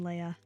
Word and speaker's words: Leah: Hunter asks, how does everyone else pronounce Leah? I say Leah. Apparently it changes depending on where you're from. I honestly go back and forth between Leah and Leia.